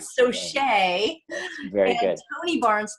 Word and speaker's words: Saucier: But I keep saying Saucier because it's spelled French, and I keep hearing it in French. Saucier.